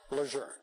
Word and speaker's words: Lejeune: When I asked her how the family says the name, she just smiled at me and said, it has always been Lejeune.